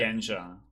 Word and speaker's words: Shugenja: If the Pointing, pronunciation incorrect, Kif, you can correct it. yeah, Shugenja.